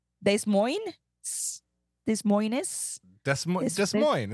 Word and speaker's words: Des Moines: But then, you know, I mean, look at what they how they pronounce Des Moines. Des Moines? Des Moines? Des Moines.